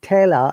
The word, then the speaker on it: tailor: you can see um god r is silent taylor are silent but in withdrawal r is pronounced because there is a vowel sound after r so i would